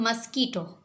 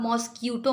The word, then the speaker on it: MOSQUITO: अब है हमारा MOSQUITO, इसे पढ़ते हैं हम मस्कीटो। इसे आप मॉस्क्यूटो मत पढ़िएगा, ठीक है। बाद बच्चे से मॉस्क्यूटो पढ़ते हैं तो ये प्रोनाउंसिएशन गलत है। इसे पढ़ते हैं, सही प्रोनाउंसिएशन है इसकी मस्कीटो।